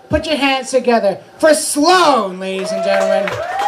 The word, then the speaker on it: Sloan: Easy name. People for some reason could not pronounce Sloan. Really? Roger? No. Sloan. Slaw? No, Sloan. Shalom. No. Hello.